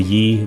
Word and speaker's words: YI: I bought the YI, Y-I, it's pronounced Yi, I think.